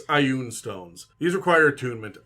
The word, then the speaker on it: Ioun: It's Ioun stones. These require attunement. I call them Ioun. These are a made-up word. You can pronounce it. I know a lot of people say Ioun. It doesn't matter.